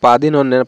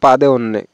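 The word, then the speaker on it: പതിനൊന്ന്: লিখে দিয়েছি পাদিন অন্যে এখানে দুইটা ন উচ্চারণ হবে পাদিন অনন্যে পাদি কেউ কেউ আমরা বলে থাকি পাদে অন্যে তো পাদে অন্যে এটা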